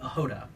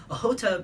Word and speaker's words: Ohota: Every year around Thanksgiving, we have an event called Ohota, which is spelled O-X-O-T-A. Ohota means hunt in Russian.